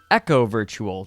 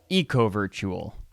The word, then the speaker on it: eco virtual: he was reasonably successful it's pronounced Echo virtual not Eco virtual and deep fantasy is